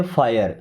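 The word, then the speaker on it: fire: आई की तरह उच्चारण करेंगे। ओके? और लास्ट में र आ जाएगा। तो क्या हो जाएगा? आई। जैसे एफ आई आर इे हम क्या पढ़ेंगे? फायर। फिरे नहीं पढ़ना है।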